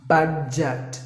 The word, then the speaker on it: budget: Budget, not budget. Instead of a, we have to say it as e. Budget, or like this, e.